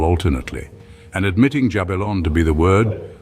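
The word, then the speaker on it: Jabulon: syllable alternately and admitting jabalon to be the word one would say ja another bell and the third on and then interchangeably until each had pronounced the whole compound.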